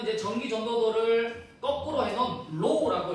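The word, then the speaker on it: ρ: 얘는 이제 전기 전도도를 거꾸로 해놓은 로우라고 읽는 문자입니다.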